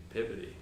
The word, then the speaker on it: Peabody: Well, it's like Peabody in Boston is Peabody. Peabody.